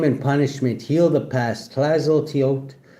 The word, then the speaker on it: Tlazolteotl: Clazo Teote pronounced Clazot Teote is a Mesoamerican earth mother of the Aztecs and the Hastic, an indigenous Mexican people, a patronist of midwives.